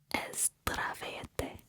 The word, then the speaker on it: Zdravete: If you're speaking to a group of friends, you would say Zdravete. Zdravete. And I think I'm sounding like a little more S sound, but it's a Z, okay?